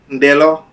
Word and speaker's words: Ndeloh: Ndeloh. Ndeloh, yes. So do you pronounce the N? Yes. Okay. So De. Ndeloh. How's the N? So it's not Ndeloh, it's Ndeloh.